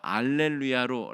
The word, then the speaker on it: 알렐루야: 라틴어로 번역을 하는 과정에는 라틴어는 H 발음이 있기는 한데 굉장히 약하게 발음이 됩니다. 거의 이 H 발음이 들리지 않는다고 볼 수 있습니다. 그래서 할렐루야가 알렐루야로 라틴어로 읽을 때는 그렇게 된다는 것입니다.